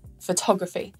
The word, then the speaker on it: photography: are some rules like if the suffix gruffy comes at the end of a noun the syllable before it is stressed photography not photography cryptography not cryptography and calligraphy not calligraphy so there are some